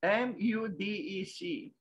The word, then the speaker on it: MUDEC: So it's a Museum of Cultures, M-U-D-E-C. I could speculate now if I try to pronounce that apparent word made of the initials, M-U-D-E-C, Mudec.